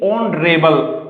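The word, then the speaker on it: honourable: अब second example भी हमारे यही है कि ऑनरेबल। अब इस ऑनरेबल में यहां पर एच क्या है, म्यूट है, साइलेंट है।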